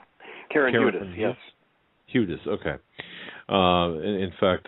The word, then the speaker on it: Hudes: Okay, you know, you had, and I hope I do pronounce her name right, Karen Hudes? Karen Hudes, yes.